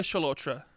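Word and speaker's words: Chalotra: discussing uh mallet yeah um i'm going to pronounce butter in here no anya cholotra is it chilotra anya shalotra from the witcher yes um plays jennifer of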